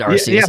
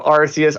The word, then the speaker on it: Arceus: arceus sorry yeah what i thought he said rcs on that one he did but they changed the pronunciation of his name like in gen 5